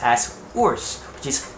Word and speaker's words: WRS: is spelled in english as wrs but it's pronounced as worse which is u r s u r s